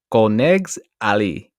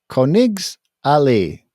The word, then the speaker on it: Königsallee: the upscale shopping street more officially known as Konegs Alley. I mean, that's my interpretation of the pronunciation, and we're just going to stick with it. Okay. Koenigs Alley. I mean, it's an alley, right? That's Königsallee. Königsallee. Yeah, who knows? Honestly, guys, go there yourself.